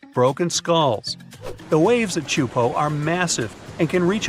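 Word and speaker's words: Teahupoʻo: all the name itself is a mouthful it's pronounced chupo and it means broken skulls in tahan yeah you heard that right broken skulls the waves at chupo are massive and can reach up to 23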